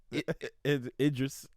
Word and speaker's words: Idris: netflix series i want interest alba is that that's that's why you say his name right interest idris idris sorry it just alba i'm